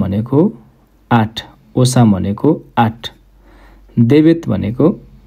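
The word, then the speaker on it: dva: प्रनाउन्सिसन कतिपय वर्डहरुको फरक हुन्छ यो चाहिँ जिलै यदान एक द्वा दुई यो द्वा भा नभएर वा है खासमा द्वा लेखाइमा मिसेको छ यहाँ।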